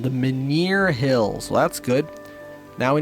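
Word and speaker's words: Menhir Hills: guards the entrance to the maner hills that's how you pronounce them the maner hills well that's good now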